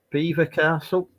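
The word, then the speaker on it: Belvoir Castle: Beaver Castle. People still call it Belvoir, don't they? But it's Beaver, isn't it? If I remember correctly. Yeah, it's spelt Belvoir, but I think I don't know.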